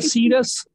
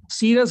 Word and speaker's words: serous: तो सर ये सीरस, सीरस बोला जाता है, SEROUS, सीरस बोला जाता है इसको, सीरस ग्लैंड।